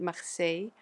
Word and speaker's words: Marseille: So, you know, just to help you out, the English speaking world, it's Marseille. We pronounce it Marseille.